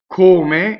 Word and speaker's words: come: Come is a closed O. One M.